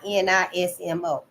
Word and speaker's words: Illuminismo: Aufklärung in Germany, Illuminismo in Italy, Illuminismo, like illuminescent. Well, it's Illuminismo, and the Enlightenment in Great Britain and America.